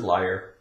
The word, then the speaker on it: liar: It looks like L-A-I-R, lair. This is liar.